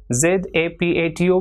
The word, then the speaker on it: zapato: For example, ZAPATO will be pronounced as zapato.